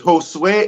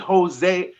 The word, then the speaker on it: Josue: name is post win it's josue everybody everybody says jose or sometimes they just be like they just say josh but it's easy to